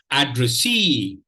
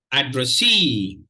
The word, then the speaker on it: addressee: The pronunciation of this word goes like this: addressee. Addressee. Addressee. Addressee. Even before I share, you realize that the third syllable is stressed.